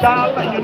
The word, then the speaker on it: Dal: It's not Bal, it's Dal.